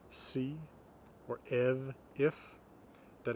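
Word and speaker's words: ef: Mostly F is going to be pronounced as a V. So words like av, from, or hav, see, or ev, if, that F is pronounced as a V.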